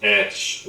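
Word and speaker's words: ř: The actual letter itself is pronounced ersh.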